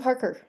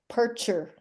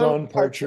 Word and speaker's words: Parcher: Parker, Parcher. I said it wrong 2 ways. It's Yeah, Don Parcher.